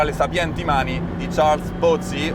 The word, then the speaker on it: Pozzi: mani di Charles Pozzi, o meglio detto Charles Pozzi, il dealer francese celebrissimo, celeberrimo, al quale è dedicato ancora oggi sulle Ferrari più moderne il colore blu Pozzi, che ovviamente si dovrebbe pronunciare blu Pozzi.